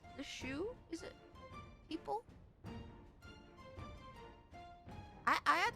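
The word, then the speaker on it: Sioux: It's like uh is it pronounced the shoe? S I O U X the shoe.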